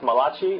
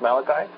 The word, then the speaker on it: Malachi: book of Malachi Malachi it is not pronounced Malati it is Malachi and we have five